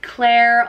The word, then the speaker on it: Clare: name is Clare and it's pronounced like Clare like rhyming with hair and Clare there's a